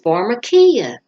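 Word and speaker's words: φαρμακεία: And that word sorcery, how you pronounce it in Greek, is pharmakia.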